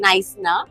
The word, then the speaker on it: Knysna: in south Africa and it's actually pronounced नाइस we called it कनाइसना